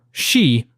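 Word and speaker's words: 四: The Japanese word for the number 4, shi, sounds like the word for death, leading many Japanese individuals to try to avoid using it.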